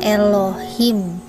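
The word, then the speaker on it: אלוהים: Nah, dari situ sudah tampak bahwa tulisan tadi bacaannya Elohim.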